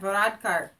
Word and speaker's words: Varadkar: Varadkar.